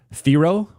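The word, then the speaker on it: Thiero: clarity today on Adu Theoro. Uh his name is pronounced Theo apparently uh similar to Hero but with a T.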